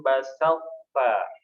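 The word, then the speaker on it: بسطت: Yang pertama la im basalta. Basalta. Poknya tetap tebal. Basalta. Jadi dimatikannya ke huruf po. Po itu punya istilah tebal, tapi pengucapannya huruf ta.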